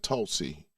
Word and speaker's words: Tulsi: Yeah, Tulsi. Yeah, that's how you pronounce it.